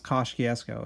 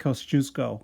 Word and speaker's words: Kościuszko: That is not how you pronounce Kościuszko. It's like Kosciuszko or something like that.